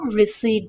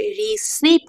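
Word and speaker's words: receipt: I need রিসিড। I need রিসিড। এখানে কিন্তু রিসিড বলতে হবে। রিসিভ না রিসিভ। সো পিটা উচ্চারণ করা যাবে না।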